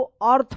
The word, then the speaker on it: earth: जैसे यहां पे देखिए EARTH, क्या पढ़ेंगे इसको, अर्थ पढ़ेंगे, अर्थ, ठीक है।